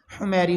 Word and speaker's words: حمیری: بادشاہ تبع الاول حمیری، حمیری کے نام سے عمومی لوگ یاد کرتے ہیں، حمیری حمیری یہ تلفظ کے اعتبار سے یہ ہے، تبع الاول حمیری۔ اس